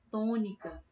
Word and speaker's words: tônica: Mesma coisa vale para a palavra tônica, né? Tônica. Se a sílaba mais forte da palavra tônica fosse o ni, a gente falaria tônica.